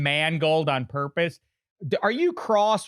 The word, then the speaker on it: Mangold: By the way, I said your name Mangold on purpose.